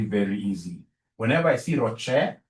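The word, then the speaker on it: ROCE: easy whenever I see Rocher please don't pronounce this as Ros is my sister Ross is your mother professionally we pronounce this as Rocher whenever I see this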